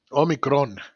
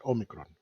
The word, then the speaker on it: omicron: going back to omicron omicron is the correct way to say it omicron i'm greek so i know uh getting back to